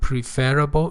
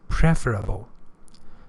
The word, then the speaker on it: preferable: it might be preferable pay attention to the to the pronunciation of this word it's not preferable it is preferable because the verb is prefer and it is more